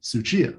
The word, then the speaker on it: Tsuchiya: a hard one yes it's not a silent you know if you say a tsunami tsunami spelled with a t so this is the same character i think um but tsuchiya not tsunami suchi i i was